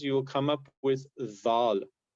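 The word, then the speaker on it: ذ: So if you have these two sounds, you will come up with dhal. So it's pronounced dhal, and this is a correct. It should never be pronounced like a z sound.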